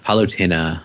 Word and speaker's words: Palutena: Or Palutena, I'm not sure how you pronounce that. Poutine. Yeah. Palutena.